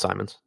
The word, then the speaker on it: Simons: And sorry, it's pronounced Simons.